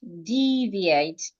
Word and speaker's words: deviate: So, the word is deviate. Deviate. You're stressing the first syllable. Deviate. Good.